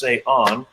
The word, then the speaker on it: Cé Änn: And all of a sudden they see my name looks like Cé Änn, pronounced Cé Änn.